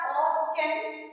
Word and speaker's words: often: It is written as often but pronounced as often.